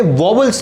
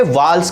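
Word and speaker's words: vowels: ध्यान आपको रखना है कि इन्हें वोवल्स नहीं, इन्हें वाल्स कहते हैं।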